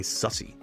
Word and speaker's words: SUSE: Harvester is a modern open source hypervisor built by SUSE. I think that's how they pronounce their name.